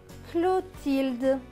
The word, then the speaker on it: Clotilde: C et L. CL, c'est cl. Avec le O, cela donne clos. T avec IL. IL, c'est il. Donc T et il. Til. D et E. De. Donc ce mot va se lire clos. Til. De. Clotilde.